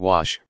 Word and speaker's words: gouache: what is quash you quash which rhymes with squash is a type of